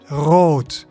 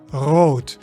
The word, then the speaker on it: rood: So in English you say r, but in Dutch you say rrr. So you can make this sound by trilling your tongue against the back of your upper teeth, or making the friction at the back of the mouth, like the French R.